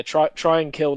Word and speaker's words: Tranquil: Yeah, try and kill number 4. That's how it's pronounced.